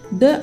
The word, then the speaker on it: the: तो फ्रेंड्स, अगर किसी वर्ड से पहले द आया है और वह वर्ड कॉन्सोनेंट से स्टार्ट होता है तो हम बोलेंगे द, like द बॉय, द पेन।